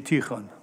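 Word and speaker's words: Tikhon: de traduction, « Chez Tyrone ». On s'écrit T-I-K-H-O-N et il faudrait prononcer Tyron, il faudrait mieux écrire avec un R parce que Tikon, c'est vraiment pas supportable. Tikon, en russe.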